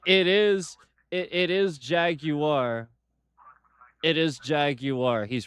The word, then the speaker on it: Jaguar: it's it it it is it it is Jaguar. It is Jaguar. He's right. It's not Jaguar. He's right. There's no There's no W in that. He's right. Jeremy Clarkson. He's right. It's Jaguar.